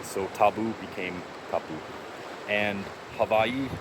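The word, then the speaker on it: Hawaiʻi: And havi with a V pronunciation is also the correct native pronunciation for these islands.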